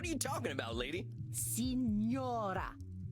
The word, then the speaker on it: Signora: Come cazzo la pronuncia, signora? Sinora. No. Signora.